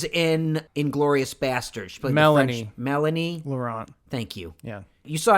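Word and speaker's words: Mélanie Laurent: any further it stars Ryan Reynolds Corey Hawkins Moline Lorant I don't know how to pronounce French people's names but she was in Inglourious Basterds play Melanie Melanie Laurent thank you yeah you saw inglorious basterds right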